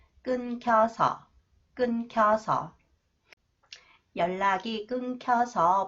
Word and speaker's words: 끊겨서: 어떻게 나왔어요 next one The final consonant new h new h affect the next sound K and the sound change it to 키 끊겨서 끊겨서 연락이 끊겨서 못